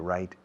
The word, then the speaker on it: write: to have time to write and receive, to read and write emails, okay? Write, wrote, written. The verb is to write. W muda al principio. Write. Se pronuncia igual que la palabra correcto.